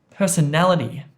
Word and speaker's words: personality: And here, personality, personality. He has a great personality, personality. So na, na, na gets stressed here, right?